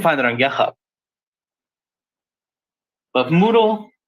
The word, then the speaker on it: Moodle: can just look for Moodle spelled like noodle but with an M there it is Moodle